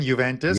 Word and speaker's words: Juventus: Teddy, aces on your pronunciation, Juventus. Yeah. The J is silent.